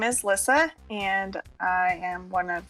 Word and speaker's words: Lissa: people say it wrong it's Lissa not not Lisa but Lissa late alright to explain